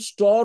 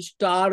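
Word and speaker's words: stir: কয়েক ঘন্টা ধরে আমার কষ্ট হচ্ছে দাঁতে ডোন্ট স্টর সো আবার সেই শব্দটা এল এসটি আই আর এটার উচ্চারণ কিন্তু স্টার নয় এটা স্টার এস টি আই আর স্টর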